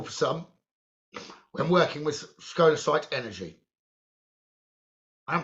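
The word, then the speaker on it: scolecite: And this could be very noticeable for some when working with skolite energy. I am pronouncing it right, aren't I? Skolasite.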